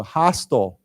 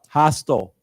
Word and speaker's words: hostile: And then the word, the 形容词, hostile. Hostile. I think, again, you can pronounce it hostile or hostile, either way.